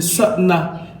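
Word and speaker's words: Sitnah: Sidna, ça doit se prononcer Satna.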